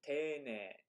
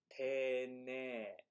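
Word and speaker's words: 丁寧: Interestingly, whenever you have a syllable in hiragana that starts with e, and then you tack on an e to it, that e at the end elongates the e sound.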